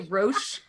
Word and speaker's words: Roche: just like watch like it's ro CH e but I the way you pronounce that is Roach but maybe it's rooms Hawk wash like Ferrero Rocher kind of thing okay like a grocery